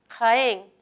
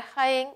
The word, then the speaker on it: Jaén: colocó tilde es correcto jaén la palabra jaén hay un gato se paró en sílabas reconozco que es aguda termine en n colocó la respuesta en